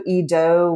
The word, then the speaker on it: Eadoug: There's also Edoug, which is spelled Eadoug, like dough, the pastry.